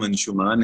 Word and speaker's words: Anshumaan: है और अब शायद मैं तो स्वीकार कर चुका हूँ कि लोग अंशुमन ही बुलाएंगे। Yeah, I started saying that it's Anshuman, but I have heard it everywhere. It's Anshuman, so people have been mispronouncing your name. मैं तो हार चुका हूँ, मैं तो एक बार फिर से कोशिश कर रहा मैं हूँ। इसको चेंज करूंगी, अंशुमान । Thank you.